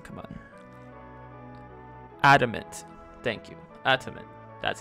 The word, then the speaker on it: adamant: Adamant.